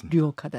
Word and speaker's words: 류옥하다: 잠깐 좀 설명을 드리자면 성희 류옥네 맞습니다 그렇죠 이름이 하다 이렇게 되시는 거죠 류옥하다 씨 인턴과 레지던트를 합쳐서 전공이라고 부르는데 그 류오 카다 씨는 가톨릭 중앙 의료원의